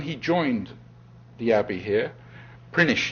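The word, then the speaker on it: Prinknash: Prinish is how you say it. Says prinach but it's prinish apparently or prinich even.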